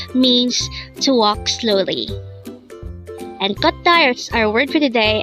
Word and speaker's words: 걷다: Again, our word for today is kotta.